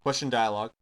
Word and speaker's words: questdlg: And I'm going to call my function, which is question dialog, which is spelled QUESTDLG.